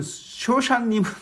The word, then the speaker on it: 쇼샤님: 이 소사님은 우리말이 아니라 히브리어 알쇼샤님을 우리 발음대로 표기한 것입니다. 그렇다면 쇼샤님은 무엇인가?